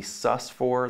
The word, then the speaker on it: sus: 4th often written be sus4 let's sus4 or just be sus be s us not sustained not sue says in dr. Seuss as some students are mispronounced over the years s you asked for